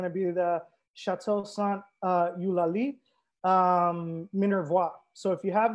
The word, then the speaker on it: Eulalie: And I'm trying to pronounce that with the Eulalie emphasis because my sister is a linguist. And she was like, the emphasis is on the li.